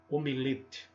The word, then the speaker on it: omelete: gostoso também é legal para anunciá-lo termo omelete com o tom da vogal tônica e tá fechado também existe o desvio